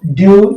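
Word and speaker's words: dew: से आपने देखा कि आसानी से शब्दों का उच्चारण कर पाते हैं तो डी ई डब्लू ड्यू ड्यू से ओस एफ ई डब्लू फ्यू फ्यू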